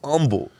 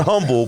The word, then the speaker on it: Humble: beginning so you said Humble Texas right not humble but humble H is silent uh I don't know